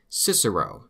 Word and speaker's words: Cicero: and the fact that this guy's name in his time was Kikaro.